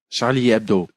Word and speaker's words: Charlie Hebdo: now now is uh Dave how do you pronounce Charlie ABDO Charlie Charlie ABDO okay he's not just being kind of be